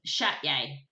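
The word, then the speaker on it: Csejte: work in the um it's it's spelled c-s-e-t-g-e Castle um but I have actually wrote it down I I tried to get the pronunciation but I must have deleted that bit hang on that sounds a bit hard that one yeah it's it's um chat yay really is is really the pronunciation something like that anyway but I'm gonna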